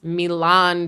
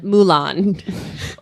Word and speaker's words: Milan: she pronounces the city Mulan. Which is a Disney cartoon.